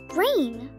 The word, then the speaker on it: brain: other a and I when this happens the first vowel says its own name it makes a long a sound the I is the second vowel so it will stay silent so this word says Brain we even learned a